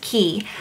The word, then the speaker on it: Quay: Quay by Shay but I looked on their Instagram and it says pronounced key but I just look